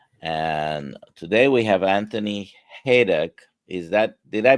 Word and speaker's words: Hayduk: And today we have Anthony Haydock. Is that Did I pronounce that correctly? Hey, duck. Pretty close. It's Hey, duck. Yeah, it's like hay and duck without the C.